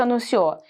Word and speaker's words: anuncio: Durante o discurso anunciou, e finalmente, minha candidatura para prefeito. Anunciou, vamos usar essa palavra aqui, ó. E finalmente, anuncio sílaba mais forte, ó. Paroxítona.